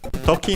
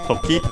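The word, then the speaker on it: 時: First we have Toki. As I mentioned before, it means time. Should be accented on the second one, on the last syllable, so that we'll check.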